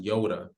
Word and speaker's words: Nyota: the and the middle name is pronounced Yoda yes like Yoda from Star Wars Yoda true